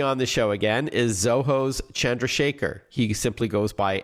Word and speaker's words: Zoho: It's great seeing it, actually, as Zoho, which is spelled just as it sounds, Zoho, delivers a lot of